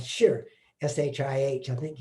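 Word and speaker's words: shih: about a concept called shir s-h-i-h i think it's uh uh they said it's kind of pronounced like s-h-a-r and i can't help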